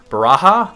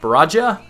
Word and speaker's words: Baraja: n NE a baraha baraha baraja I don't I don't know if you use pronounce it with the J or the ha sound I think it's baraha and yeah Nia I already